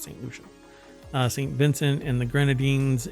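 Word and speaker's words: Saint Lucia: Yeah, Barbados, St. Lucia or Lucia? St. Lucia. That's how it's pronounced, St. Lucia.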